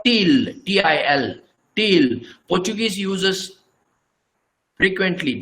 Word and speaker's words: til: This is called til, T-I-L, til.